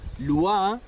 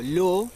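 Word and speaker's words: לא: se te dice no matarás Allí está escrito Lu o lo como suelen pronunciarlo en la actualidad terrat Y esa palabra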